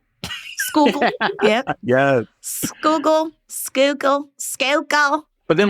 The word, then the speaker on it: Schuylkill: Capital SCHUYLKILL. Conrad, you go first. Schuylkill. Nicole? I was going to try to put on my super thick Philly accent. That's Schuylkill. Schuylkill.